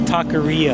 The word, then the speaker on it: taqueria: Well, I can't roll my R's, but it's taqueria.